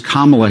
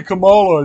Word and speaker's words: Kamala: this jackass CNN say why do you say Kamala instead of Kamala it's Kamala that's all he has to